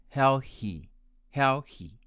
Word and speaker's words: healthy: to pronounce it as hell he hel he with the consonant of h he and my american friends pronounce it as healthy healthy with the consonant of th th next is e-x-p-i-r-a-t-i-o-n my